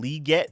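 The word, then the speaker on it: Legette: So he pronounces his name Leggett. That's how he pronounces that?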